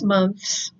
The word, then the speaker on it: months: is it months yes you have to stick your tongue out in order to create the sound for the th and then add the s so that's a little